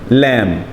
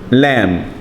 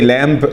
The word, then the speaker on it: lamb: lamb repeat after me lamb lamb as you can see the letter b here is silent we don't say lamb no lamb the letter